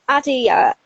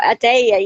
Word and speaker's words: Adiyah: So, I mean, Adia, or Adeya, you told me it's pronounced in different ways.